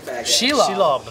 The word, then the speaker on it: Shelob: Shelob. Wes is going full spider. Shelob.